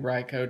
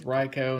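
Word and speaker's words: Raikou: a ryko holographic raiku ryco depends on which pronunciation you're using the old pronunciation was riko and so let's see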